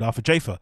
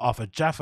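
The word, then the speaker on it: Arthur Jafa: And he obviously didn't follow through with the collaboration with Arthur Jaffa, which now we know his pronunciation is not Arthur Jaffa, it's Arthur Jaffa.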